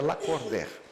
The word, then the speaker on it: Lacordaire: escreve la corder, pronuncia la corder.